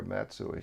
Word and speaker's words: Matsui: was playing for us i asked him if it was correct the pronunciation was correct is it matsui or matsui sure and he said it was matsui uh and he said he said you do it perfectly right and i said